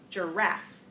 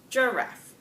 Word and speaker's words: giraffe: words under two syllables giraffe giraffe hey you do that with me giraffe do you know how that's different if we were going to say it with strong stress on that first solo it sound more like Jareth giraffe here that difference giraffe second example I have